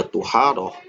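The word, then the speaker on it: طُهارة: Adapun kalau toknya menggunakan dhammah sehingga kita bacanya tuharoh, maka maknanya apa?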